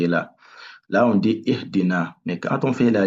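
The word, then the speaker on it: اهْدِنَا: Donc là, c'est le I. Donc là, il faut prononcer ça comme I. Ihdina.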